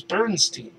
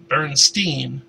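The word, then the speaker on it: Berenstain: I mean, I don't know which is the correct pronunciation, but the way I remember everybody pronouncing it is Bernstein. People all pronounce it wrong, pronounce it that way long enough.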